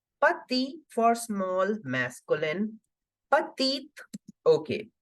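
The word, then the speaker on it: petite: keeping it silent here the last alphabet is e so I am making the complete sound of both the t's it is Pati I repeat the pronunciation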